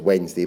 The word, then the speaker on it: Wednesday: Matt of course is Wednesday because it has an extra syllable in it that we doin see because as we know